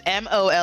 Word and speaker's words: molly-whopped: That is MOLLYWHOPPED. And if it was a really bad molly-whopping, you pronounce that H. It's molly-whopped.